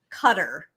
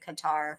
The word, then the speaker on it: Qatar: known where he's from cutter cutter that's not how you pronounce it you pronounce it Qatar yeah but that's what